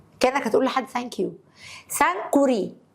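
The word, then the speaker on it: Sankore: هتقول لحد ثانك يو سانكوري سانك كوري هتنطق الكاف مرتين اسمها جمع جامع كان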